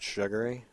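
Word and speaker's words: Shagoury: civvies okay so and person's name is Andrew shagui s h a g o u r y chief of Tuftonboro okay I have a picture if you'd like one pronounced sugui it's I don't know what it's called but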